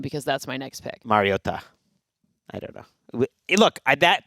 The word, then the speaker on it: Mariota: And then I asked Logan Ryan. I'm like, you're friends with him. You played on Tennessee, and he was like, He's like, it's Mariota.